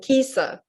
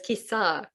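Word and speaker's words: Kisā: Kisa, I've been mispronouncing this for years. I keep mispronouncing it. I keep saying Kisa, but it's Kisa.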